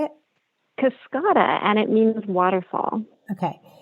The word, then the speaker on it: Cascada: Cascada, and it means waterfall.